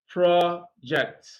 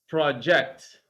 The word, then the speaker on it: project: syllable project all right project when you are using it as a verb stress is on the second syllable projects project okay so that's exactly